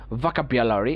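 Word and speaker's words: vocabulary: ভ আভা খ আকা ভাকা থেকে যদি আ তুলে ফেলি এটা বকা হবে না ইটস নট ভকা ইটস ভাকা দ্রুত ভাকা ঠিক আছে ভাকা তারপরে বিয়ালরি লারি থেকে আ বাদ দিলে বিয়ালারি আমরা লারি না বলে বলবো বিয়ালরি আমরা যদি এইভাবেও বলি সমস্যা নাই ভাকাবিয়ালারি এটাও সঠিক ভাকাবিয়ালারিও বলতে পারি আবার ভ এবং ক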